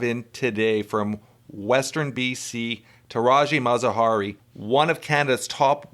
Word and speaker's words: Tirajeh Mazaheri: Tirajeh Mazaheri. Did I pronounce that right? Tirajeh Mazaheri.